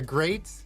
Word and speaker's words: Greyt: Okay, so this is the Great.